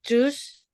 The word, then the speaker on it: choose: Verb 1-nya choose. Verb 2-nya chose. Verb 3-nya chosen. Ya, Oh, karena O-nya 2 ya, Miss. Itu. iya. Choose. Bacanya U.